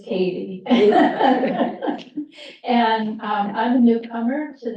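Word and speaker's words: Cady: It's spelled C-A-D-Y, but it is Katie.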